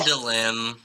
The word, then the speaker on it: Phandalin: Damn it, I said the name wrong again. Fuck. No, he said it wrong. He said it wrong. Yes. Phandalin. That's what it is.